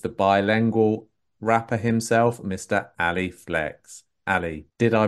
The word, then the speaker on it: Ali Flex: Ali Flex. Ali, did I pronounce that correctly?